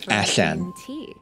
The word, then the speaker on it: allan: And A-double-L-A-N in Welsh is pronounced Allan.